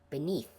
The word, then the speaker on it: beneath: That's still not pronounced like an F. That's pronounced th beneath. I'm not sure how you've been pronouncing it, but it's not pronounced with an F.